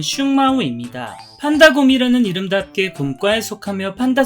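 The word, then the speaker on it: 熊猫: 판다는 중국 쓰촨성 일대에 서식하는 포유류 동물로 한자로는 웅묘, 중국식 발음은 슝마오입니다.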